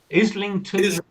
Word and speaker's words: Islington: Islington isn't pronounced like island.